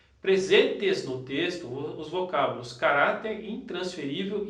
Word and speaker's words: caráter: A palavra caráter aqui, ó. Paroxítona terminada em R.